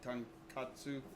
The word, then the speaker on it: tonkatsu: You make such good tonkatsu.